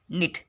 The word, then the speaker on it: knit: अगला देखेंगे, के बाद यन हो तो के साइलेंट होता है। एग्जाम्पल देखें, जैसे नो, KNOW। नाइफ, KNIFE। निट, KNIT, निट।